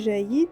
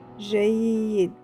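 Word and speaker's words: جيّد: On n'a pas dit Jaïd, et là, ça vient. La voyelle qu'on a fait hier, c'était Shudda, quand il y a le redoublement de son. Et ça fait Jaïd. Jaïd.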